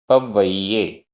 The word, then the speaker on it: पव्वय्ये: आधा वा पूरा वा। पव्वय्ये।